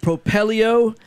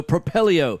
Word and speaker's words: Propelio: excited to be joined today Daniel Moore with propello hey tell us a little bit about the